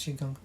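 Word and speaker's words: Qigong: for Chiang on YouTube it's spelled Qi G N G Q gong or pronounced Chong you can add these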